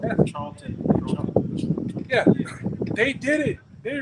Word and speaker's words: Charlton Heston: Charles Heston. Charlton.